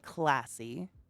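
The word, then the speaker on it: klaasi: oh yeah that that's the brachypelma classy my namesake spooder although it's spelled k-l-a-a-s-i as you can see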